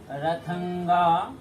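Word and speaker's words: रथाङ्ग: रथंगा नासिक उच्चारण करना है।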